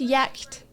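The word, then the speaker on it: Giertz: Her name is pronounced Yacht. Thank you, Caustic Armadillo. Appreciated. I'm not good at reading names I'm unfamiliar with. So that's really helpful. Yacht.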